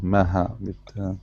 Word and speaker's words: Maha: Oh, it's in the middle, Maha, Okay.